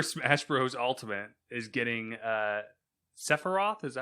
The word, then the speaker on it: Sephiroth: Ultimate is getting Sephiroth. Is that how you pronounce that?